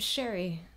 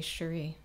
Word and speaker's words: Shairi: pronounced i decided that instead of sherry i was going to be shari shari represented the person